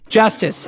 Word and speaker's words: Justus: Justice is the correct pronunciation if you are American.